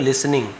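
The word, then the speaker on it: listening: Even यानी यहाँ तक की, इवन यानी भी होता है यहाँ तक की, लिसनिंग यानी सुनकर, टी साइलेंट है, लिसनिंग नहीं बोलेंगे, लिसनिंग।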